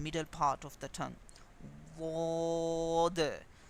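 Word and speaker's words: ض: Wod. This letter should be pronounced correctly when you touch the side of the tongue with the same side of upper back teeth.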